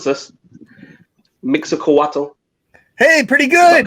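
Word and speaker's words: Mixcoatl: The mask is based off of, I'm going to try and pronounce this, Mixacoatl.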